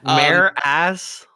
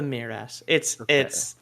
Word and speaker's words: Mearas: Mare ass? Like they're female called the horse butt? It's called the Marass. I'm using the movie pronunciation because it's the only time I've ever heard it spoken aloud, right?